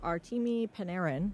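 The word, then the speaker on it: Artemi Panarin: Uh, you know, they just made that trade for Artimi Paneran.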